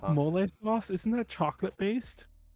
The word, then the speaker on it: mole: mole sauce?